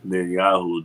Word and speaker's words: Netanyahu: And then, as you can see, Netanyahu, that's how you say his name right, he basically is happy that the Assad regime fell.